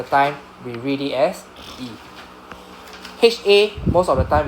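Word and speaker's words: へ: As I told you, 99% of the time we pronounce it as just E, right?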